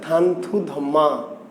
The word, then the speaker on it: থানথুধম্মা: রাজার নাম ছিল চন্দ্র সুধর্মা, কিন্তু আরাকানিজ ভাষায় এই চন্দ্র সুধর্মা কি এই চন্দ্র সুধর্মাকে আরাকানি ভাষায় বলা হয় কি, উচ্চারণ হচ্ছে থানথুধম্মা। তাই না?